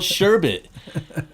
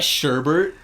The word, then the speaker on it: sherbet: in it it's called sherbet it's not sherbert there's no r actually uh the idea